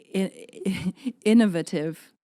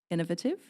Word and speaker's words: innovative: And to bring something innovative. That's a word? Innovative? I mean, I think you're putting emphasis on the wrong syllable.